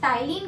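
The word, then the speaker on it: ptyalin: इसको हम pronounce टाइलिन करते हैं, बट इसकी स्पेलिंग पी से स्टार्ट होती है, ठीक है।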